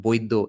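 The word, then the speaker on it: বৈদ্য: The reason the middle letter is B is because it's pronounced Boiddo in Bengali.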